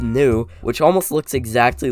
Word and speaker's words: nu: This name has a Greek character that's pronounced nu, which almost looks exactly like an English V, but if you look very closely, it has more of a curve to it.